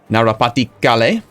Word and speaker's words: Narapati Kale: Narapati Kale.